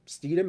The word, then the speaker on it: Stidham: Jason, who Steedham is how do Jared you pronounce? Stidham. Stidham, Jared Stidham.